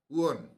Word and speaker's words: won: 10, ও তো ওয়ান, ওয়াইইউএন উচ্চারণ। ডাব্লিউ, ও, WON। ডাব্লিউ-ও-এন, ওন, ওন।